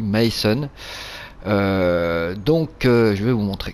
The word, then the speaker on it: Meißen: la précédente vidéo puisque ce fameux b ici face à ressembler à un b se prononce comme à double s voilà donc ça se dit mason donc je vais vous